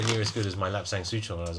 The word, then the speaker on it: Lapsang Souchong: Yeah, Lapsang Souchong, I think is the like the Hokkien pronunciation.